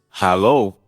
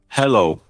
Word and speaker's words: Hallo: Notice the difference in pronunciation. It's hallo and not hello.